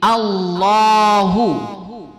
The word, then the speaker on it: Allahu: Jadi Allahu.